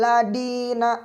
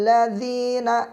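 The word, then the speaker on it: الذين: Siratal ladzi jangan da. Misalkan siratal ladina an'amta 'alaihim siratal ladi. Nah, itu membacanya tidak tepat. Yang tepat adalah menggunakan da seperti ada huruf Z kalau di bahasa Indonesia.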